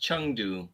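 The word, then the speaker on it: Chengdu: there that would be awesome oh my God Chang do folks with a CH Chang do yeah there are plane that flies directly from up on today it's actually pronounced chungu by the way oh thank you right yeah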